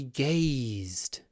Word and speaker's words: gaze: When you pronounce these words gaze and eyes, try to pronounce a lot of y when we have a voiced consonant at the end of the word. We stretch the vowel the the y gaze. It's actually sort of pronounced like that, isn't it? Gaze.